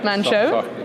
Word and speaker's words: Manh Choh: So now let's start off with the, well, congratulations on the construction decision at, I have to pronounce it now, Manh Choh? Manh Choh. Soft M, yeah.